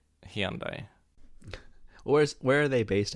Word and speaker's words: Hyundai: british pronunciation option which apparently the british pronounce it high undie doesn't sound too bad hyundai hyundai hyundai high and i hyundai look if you really